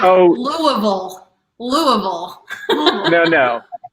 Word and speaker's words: Louisville: It's like, Louisville. Louisville. Even I know how to say it. It doesn't it's like Oh. Louisville. Louisville. No. If you're from the South, it's Louisville. Louisville.